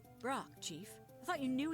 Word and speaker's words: Brok: name what about it go ahead say my name it's Fork of course no it isn't Brock Chief I thought you